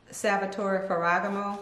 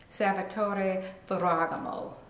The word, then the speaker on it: Salvatore Ferragamo: making leather shoes and most know most people pronounce it um salvatore ferogamo but the correct pronunciation let me see if i can get it right is salvatore ferragamo so the f is kind of like you're